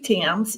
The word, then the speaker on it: Thames: in Australia yes um my name is Tims it looks it's pronounced like the Tims River in England a lot of people mess it up and call it things